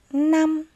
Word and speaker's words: năm: là từ mỗi năm khi đọc từ này các em lưu ý tiếng 5 chúng ta phát âm là n mỗi năm mời các em đọc